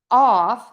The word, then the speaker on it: of: Off has a very open O and the F sound, which means that's unvoiced. Off, off. Of has that short sound and a V.